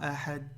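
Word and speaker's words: أحد: Ne dites pas ahad, ahad. Là, on n'entend rien. Ahad. Ahad, d'accord? Prononcez bien le del comme ça.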